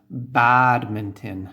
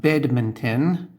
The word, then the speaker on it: badminton: So for example, badminton, not bedminton, okay?